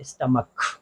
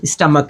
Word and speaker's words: stomach: उच्चारण लेने की बजाय इसका जो उच्चारण है वो क हो जाएगा, क्योंकि ये जो लिखा हुआ शब्द है वो है स्टमक। शब्द क्या है, स्टमक।